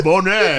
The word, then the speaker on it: Boney: No, Bonet. It's spelled B-O-N-E-Y.